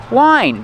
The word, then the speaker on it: whine: How do you pronounce it? Wine. Just like the wine you drink.